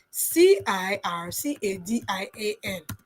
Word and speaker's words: circadian: I hope I'm pronouncing it for you. Is CI. Let me put it in the chat. C I R C A D I A N.